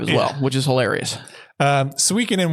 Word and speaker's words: Suikoden: It is called Suikoden.